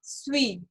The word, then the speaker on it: suis: Okay, अब हम इसकी प्रोनाउंसिएशन सीख लेते हैं एक बारी। ज, स्वी, okay, S यू आई एस।